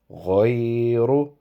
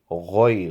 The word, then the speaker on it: غير: Okay, so it is ajrun ghayru. So instead of ghayru or gharu, it will be ghoy. Ghain is a round shaped mouth pronounced alphabet, so it is ghoy.